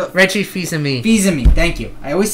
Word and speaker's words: Fils-Aimé: The last page is E3 Bingo, where how the hell do you pronounce his last name? Reggie Fils-Aimé.